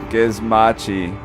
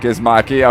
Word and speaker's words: Gizmachi: Also, bro, my name is pronounced Gizmachi, not Gizmaki.